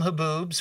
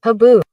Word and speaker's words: haboob: Haboo. That's how you pronounce it. Haboo. The little B at the end is getting cut off, but it's haboo.